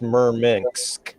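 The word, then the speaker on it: Murmansk: a soviet base in the arctic circle it's pronounced merminks it's just that's pretty up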